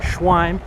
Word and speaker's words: Schweim: And this is Louis Schwin. Am I pronouncing that right?